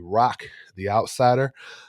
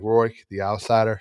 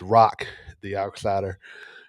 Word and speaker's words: Roq the Outsider: I just want to apologize for mispronouncing uh Rooric. It's really Rock the Outsider. So, anywhere you see like Roy the Outsider, that's me.